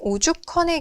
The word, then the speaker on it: 오죽헌: 그런데 오죽헌의 경우, 그렇죠. 오죽헌의 경우 실제로 이와 같은 거센 소리 되기가 이루어졌을 때 오죽헌 발음해 보면 이렇게 컨으로 발음이 되죠.